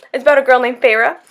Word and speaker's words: Feyre: I kept thinking it was fair, or it looks like fire or something, and then she's like, oh, my sister pronounced my name, and it was like Feyre, and I'm like, what the hell, Feyre?